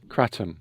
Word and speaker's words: kratom: This kratum. Yes. We deal with traditional leaf from Indonesia. No synthetics, nothing, just all natural. Tell me more about and and am I pronouncing it correctly? Catum.